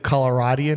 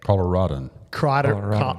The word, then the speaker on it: Coloradan: Raj is a native Coloradian. Is that how you say it? Coloradan.